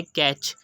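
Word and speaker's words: catch: हमने की बैच second example है कैच यहां पर ब से पहले ए आया जो की वावेल है उसके बाद सी हा आया तो हमने टिक को प्रोनाउंस नहीं किया उसके बाद थर्ड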